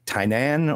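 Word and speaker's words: Tynnan: is a uh and I say t tenan or tenanan but it's spelled t y n n n so you emphasize the second n in the middle so you can say ten tanan yeah either way yeah yeah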